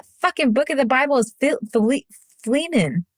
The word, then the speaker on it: Philemon: book of the Bible is flemen it's literally like two pages go read it it's good okay that's not our book of the Bible yes it is what is it called Philemon it's spelled uh p-h-i-l-e-m-o-n I believe why in the